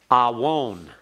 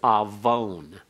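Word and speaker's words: עָוֹן: Now, awon is pronounced as though the wow is a consonant as well as a vowel. It's actually just a wow consonant with a holum. So it's awon, or if in modern Hebrew, it's avon.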